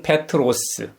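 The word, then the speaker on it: Πέτρος: 우리에게 잘 알려져 있는 베드로는 그리스식 이름입니다. 발음은 페트로스.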